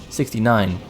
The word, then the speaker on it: 69: 69 that's the right way to say it 69. like in Dutch we say the other way around it's a little